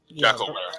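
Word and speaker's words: jackalwere: Jackalware, like werewolf only.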